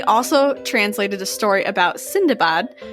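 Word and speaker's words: Sindbad: translated a story about sindabad whom westerners would also know as sinbad but apparently that's not the way you actually say his name in which he and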